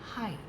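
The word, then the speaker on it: high: नया शब्द है इसका इसकी स्पेलिंग को थोड़ा ध्यान रखें क्योंकि जैसा लिखा है हम उसे वैसे नहीं बोलते एच आई जी एच हाई आई can jump हाई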